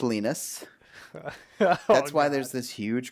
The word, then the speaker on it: Linus: I thought it was Linus. Nope, it's pronounced Linus.